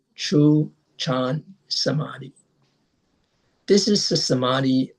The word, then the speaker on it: Chan: In Chinese, it is pronounced chan.